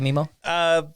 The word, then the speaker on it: Memo: I've been thinking about this for a while, but why is it pronounced Memo? So, not Nemo or Memo. Memo. Do people call you Memo?